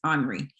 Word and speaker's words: Henri: They told me I can't say Henry, even though that's, mama named him Henry. I'm going to call him Henry, but it says Henri is the way that we're supposed to pronounce it.